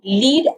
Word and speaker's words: lead: can match hetrons is words that are spelled identically but carry completely different meanings and pronunciation lead as a metal versus lead as a verb.